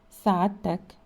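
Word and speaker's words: سعادتك: If the person addressed is of much higher rank, the word sa'adtak or sa'aditkum should be used and pronounced sa'adtak, sa'aditkum. It is well to be familiar with the expressions by which God is invoked.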